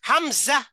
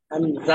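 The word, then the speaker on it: همزة: কোন টান হবে না এরকম হামজা হামজা হামজা টান হবে না তবে তিন অক্ষর হয়ে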